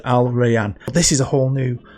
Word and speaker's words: Al Rayyan: Now I checked a couple of pronunciations online, found 3, and that's the one I preferred, Al Rayyan.